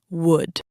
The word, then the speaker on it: would: The word would. This one is tricky for a lot of people. It sounds exactly like wood from a tree in the forest. But it is spelled with an O and a U and an L. English spelling is very silly sometimes. We just have to ignore the spelling.